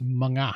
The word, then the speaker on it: mga: So, and this is, this word here is mga. That's how it's pronounced. Like nga is nya, this is mga.